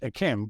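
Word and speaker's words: d'Yquem: Chateau Kim incorrectly is small D apostrophe capital y q u e m pronounced a chem quite simple but I remember when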